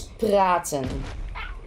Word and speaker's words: praten: Talking in Dutch is praten. So you can instantly hear that R, how hard we pronounce it, right?